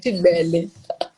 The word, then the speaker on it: Cibele: Cibele.